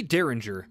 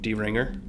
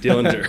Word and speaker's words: Deringer: I thought it was like Dillinger. Dillinger. But I guess there's no L.